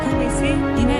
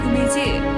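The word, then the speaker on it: Gomez: 스페인어 성이라 원어 발음은 고메즈가 아니라 고메스이나 미국 기반으로 활동하고 있고 본인도 미국인이므로 종종 설리나 고메즈 정도의 발음으로 불릴 때도 있다.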